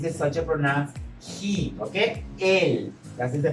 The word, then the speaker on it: él: Él. That is the pronunciation.